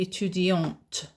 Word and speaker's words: étudiante: Je suis étudiante. Étudiante. And in that case, you pronounce the t.